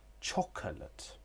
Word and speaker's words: chocolate: Chocolate. Chocolate. There is a schwa sound in the middle. Chocolate. In fast connected speech, there would be elision with this schwa sound.